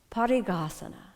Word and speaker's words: Parighasana: of the inner Journey let's start off with the Sanskrit pronunciation here we go repeat after me parigasana party gahasana one more time good